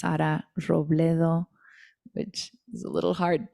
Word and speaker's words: Robledo: name on Facebook or under my name s roblo which is a little hard to pronounce I know in English r o b